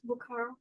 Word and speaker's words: Bukhara: How do I pronounce the city name? What city is this? Bukhara.